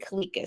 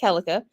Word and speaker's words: Keleka: of people pronounce it Kika so I actually accept it because that's how I grew up with it but it's actually pronounced kelica um I'm 43 I